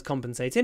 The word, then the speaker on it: compensate: this sentence also has compensated it nothing can compensate for my loss so compens ation on the a compensation compensate on the cup at the beginning compensate the next one